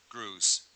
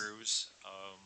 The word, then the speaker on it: Grues: Next speaker, Grues. Welcome. Did good with that. Not many people do. Last name. With my name, My name is pronounce it. Grues.